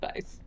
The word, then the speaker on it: Weisz: given up by Rachel Weisz.